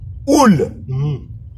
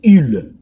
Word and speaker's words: ul: Masculin singulier, je vous l'ai dit, c'est oul. Et quand je dis oul, je suis en train de prononcer ça en roumain. Au fait, si je devais prononcer en français, c'est ul.